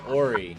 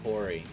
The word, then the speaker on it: Horry: Yeah, except his name is Ori, not Horry. The H is silent.